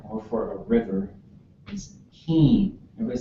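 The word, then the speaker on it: héen: to say it, but she says low tone. Heen. So we would say high tone. Heen. So it's a long vowel. We really make them long, really high.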